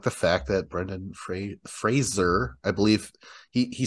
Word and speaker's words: Fraser: the fact that Brendan Fraser I believe he he said like people don't ever pronounce my name correctly it's like more like a z I guess uh I'm